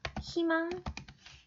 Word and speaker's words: 희망: 첫 소리가 자음인 의. 이게 무슨 뜻이냐면, 예를 들면, 희망 같은 거예요. 그죠? 희망 어떻게 해야 돼요? 희망, 희망. 이 중에서 뭐가 맞아요? 그죠? 자, 2로. 그냥 2로만 발음하는 거예요. 희망이라고만 발음해야 돼요. 이것만 맞아요.